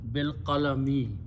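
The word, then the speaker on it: بالقلم: Bil-qalami. He taught allazi bil-qalami with the pen. You stop, you pronounce bil-qalam. Okay, because always last letters harkat changes into sukoon, except if there are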